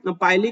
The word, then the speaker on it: pili: ना, ये जो है इसे बेसिकली हम पाइली कहते हैं, PILI, या फिर पिली भी कई लोग प्रोनाउंस करते हैं।